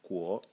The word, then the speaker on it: 果: So the first character is pronounced guo, and it means to.